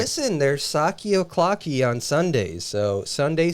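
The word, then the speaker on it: Psaki: her name yeah yeah p-s-a-k-i which i think that's greek saki that's like a word yeah it sounds it but saki is how you say it in english so uh is there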